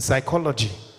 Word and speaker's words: psychology: honest H is silent in Psychology p is silent in knife K is